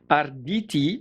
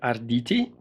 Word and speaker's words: Arditi: is the extrema ratio rdt black fighting knife to give it its full name and i'm assuming that's how the italians would pronounce it aditi right so as per